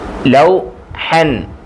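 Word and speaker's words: لوحا: മസാഇൻ മസാഉൻ മസാഉൻ മസാഉൻ ലൗഹൻ ലൗഹൻലൗ ഇവിടെ ഈ അലിഫ് ഉണ്ട് അലിഫിന് ഉച്ചാരണം ഇല്ല ആ ഇ എന്നൊന്നും പറയത്തില്ല വായിക്കത്തില്ല ലൗഹൻ ലൗഹൻ ലൗഹൻ ലൗഹൻ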